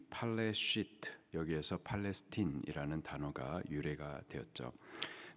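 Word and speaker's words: פלשת: 이 블레셋의 히브리식 발음이 팔레시트, 여기에서 팔레스틴이라는 단어가 유래가 되었죠.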